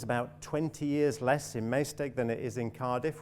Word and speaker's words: Maesteg: Wales, I think, in, how do you say, Maesteg? Maesteg, thank you. I knew I would get it, Maesteg, that's good.